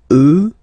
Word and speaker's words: eux: So the masculine form will change and you get the sound remember, final X not pronounced, and then plural elle. Okay, so let's see them one more time. Moi, toi, lui, elle, nous, vous, eux, elles.